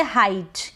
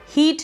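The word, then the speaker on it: height: इ आई को हम पढ़ेंगे हाइट। क्या पढ़ेंगे? हाइट। अब हीट नहीं पढ़ेंगे।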